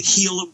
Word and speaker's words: Gila: It's called the Gila River. And it's after the Gila, was spelled with a G, Gila River Indians.